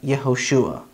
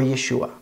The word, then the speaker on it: Yehoshua: have yonah and finally instead of joshua or jesus we actually have yehoshua or yeshua so by knowing this one letter you can actually pronounce a number of hebrew words that in english have the letter j this is just a